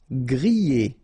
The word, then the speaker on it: grillé: Grillé. Okay, at the end you've got this E, and then remember double L after E, y, grillé, grillé.